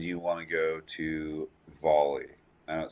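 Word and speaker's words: Volii: in space and you want to go to volley I know it says Vol 2 but it's actually pronounced volley according to everyone lives there so it says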